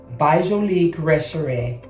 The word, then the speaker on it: Retrovè: Retrovè.